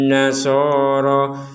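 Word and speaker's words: النصارى: Di sini yang perlu dijelaskan adalah nun bertasydid. Nun bertasydid ini harus kita baca dengan dengungan. Dengungan itu apa artinya? Yaitu di rongga hidung kita itu ada dengungan. Laisatin nasoro tinna tin. Jadi di rongga hidung kita berdengung, 100% berdengung.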